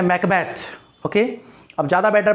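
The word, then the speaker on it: Macbeth: वो स्कॉटलैंड में, और स्कॉटलैंड में जो है इसको बोलते हैं मकबैथ। तो ज़्यादा करेक्ट प्रोनाउंसिएशन क्या हो गया? मकबैथ।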